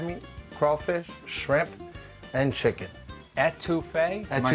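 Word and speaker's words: étouffée: Etouffee?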